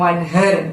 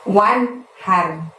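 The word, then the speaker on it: وانحر: Wan-nya itu bunyi N-nya harus jelas ya teman-teman, karena nun mati bertemu hak. Haknya seperti biasa kita lafadzkan dari tenggorokan bagian tengah, jadi terdengar lebih lembut, lebih halus. Wanhar, bukan wanher, tapi wanhar.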